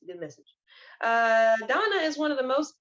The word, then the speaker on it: Dana: So her message, Miss Donna, I know someone might say Dana, but in the book, she is she is pronounced as Donna.